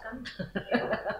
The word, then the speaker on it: Kuhn: Di sini akan kita bahas yaitu yang pertama dari apa yang dikatakan oleh Thomas Kuhn atau Thomas Kuhn bacanya ya, ya gitu ya.